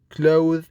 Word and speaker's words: clothe: You must notice that in clothe, it is a verb. When you have the word as a noun, it is pronounced as cloth, with the, not the.